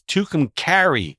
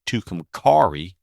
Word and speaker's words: Tucumcari: 66 is Angel Delgadillo not Delgadillo and it's Tucumcari New Mexico not Tucumcari and by far the most popular Town mispronounced along the Mother Road is Miami spelled